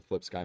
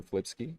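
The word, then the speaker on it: FlipSky: Our drive train itself, like I said yesterday, they're the Flip Sky motors, Mm-hmm. or Flipski, whichever way you like to pronounce it.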